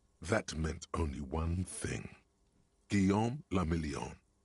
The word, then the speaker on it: Guillaume le Million: Guillaume le Million. If it doesn't rhyme, you're not pronouncing out of the dazzling swirl of disco music in an open-air boîte de nuit somewhere in Revachol West.